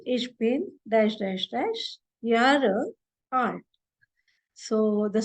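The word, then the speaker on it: Jahre: But here, if you say, see, J, you have to pronounce it as yo in German. It is not Jo. So it is ich bin dash dash dash Ihre art.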